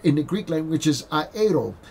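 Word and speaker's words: αἴρω: The word there in the Greek language is aero, aero, a I r o, a I r o, and really the accent is on the o, aero.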